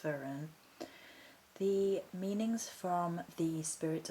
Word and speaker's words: Fearn: or verun it is spelled Fern but it's pronounced verun the meanings from the spirit of old booklet